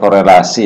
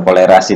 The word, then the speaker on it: korelasi: Ini koefisien korelasi nih, bukan kolerasi nih. Korelasi ini namanya ya. Ini salah nih.